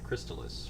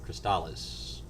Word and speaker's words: Crystalis: and the same company made Crystalis or Chris Dallas depending on your pronunciation of it and I would like